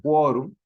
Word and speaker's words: quórum: palabra quórum ya que se pronuncia como quorum no como como si fuese la cuna Sí porque en este